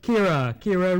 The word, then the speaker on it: Kara: It's not Kara, although it's spelled K-A-R-A, but it is Kira, Heritage Preservation and Research Officer.